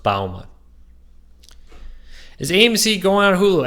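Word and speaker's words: Bouma: My last name is pronounced Bauma, like the bow of a ship, ma. It's Dutch, so it's pronounced a little awkwardly, but it's pronounced Bauma.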